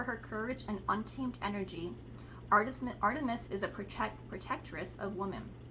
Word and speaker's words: Artemis: Artemis, pronounced Artemis, Diana to the Romans, is the Greek goddess of the wilderness, nature, childbirth, and the moon.